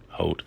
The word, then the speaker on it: Holt: So after reading Holt, the selection from Science and Religion by John Holt, I think that's how you say his name. I've heard it pronounced other ways, but we'll say Holt.